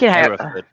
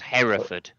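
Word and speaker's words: Hereford: It's pronounced herford. It's pronounced herford.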